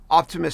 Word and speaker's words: Optimus: the robot is actually optimus which is a clever name because optimus sounds like the word optimist and optimus prime of